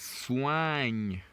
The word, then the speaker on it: soigne: We pronounce OI as OA. So this gives us soigne.